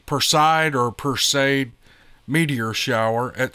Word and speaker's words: Perseid: late to watch the, I can't pronounce this word, I think it's Perseid meteor shower at Strawberry Reservoir. P-E-R-S-E-I-D, Perseid or Perseid meteor shower at Strawberry Reservoir.